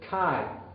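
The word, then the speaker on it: καί: Si miramos en la primera línea, esta primera palabra que encontramos es kai. Y note que alfa y iota tiene el sonido I y es una sola sílaba.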